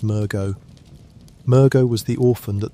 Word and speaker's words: Mergo: The infant Great One that Mensis sought to bring into the world is called Mergo, which you may say as Mergo.